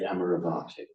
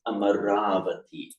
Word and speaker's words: Amaravati: name of the place, please never say Amaravati. It will cause me enormous dukkha to hear this. It's Amaravati. Amaravati. Even some of the monks there horrified me by mispronouncing the name of their own monastery.